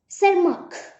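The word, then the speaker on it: Tschermak: तो उनके according Hugo day व्रिज एंड और कौन थे, सी कॉरेंस एंड ईवी सरमार्क, ठीक है, यहाँ पे टी प्रोनाउंस नहीं होगा, सरमार्क।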